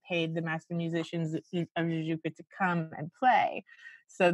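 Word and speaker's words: Jajouka: Am I pronouncing that right? Yeah, Jujuka.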